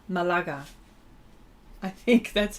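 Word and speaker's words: Málaga: Malaga no Mala Mal the accent is on the second a so Malaga Malaga I think that's how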